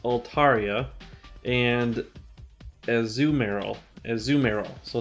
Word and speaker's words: Azumarill: is pronounced Altaria and as zoom arrow as zoom arrow so it's like not as you've Meryl but a zoom Errol but it's not a zoom mark azumarill it's as zoom arrow know